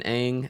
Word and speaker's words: Aang: They call him Ong rather than Aang.